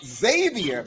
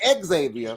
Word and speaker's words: Xavier: a proud graduate of Xavier not Exavier you better say that let them know okay let them know you got to be schooled you got to know how to say it don't say exophone tell him University of